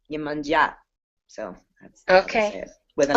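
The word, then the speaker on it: Iemanjá: It's not Yemaya, it's Yemanja.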